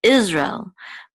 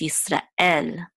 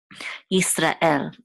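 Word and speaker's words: ישראל: B'nai, and then L, here's the last syllable of Yisrael is what is accented, Yisrael. It's not, in English, we accent the first syllable, we say Israel, but in Hebrew, it's Yisrael. There's also a guttural stop right after Ra and before El, because the Aleph is actually a guttural stop, Yisrael, okay.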